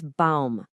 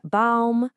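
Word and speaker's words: Baum: For tree, it's balm. There it is again. Balm. Now, the word for house. House. H O S. This one's pretty much identical to English. And for woman, it's fra. Listen to that pattern again. Auto balm. House. Fra. It's the exact same sound every single time.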